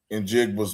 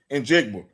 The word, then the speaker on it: Njigba: He just said Njigba. He said the name. You can say JSN if you know how to say it. Nigga, but it don't even. It's NJ. It starts with NJ.